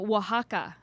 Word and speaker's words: Oaxaca: From Oaxaca. Are you impressed that I knew how to how you pronounce that?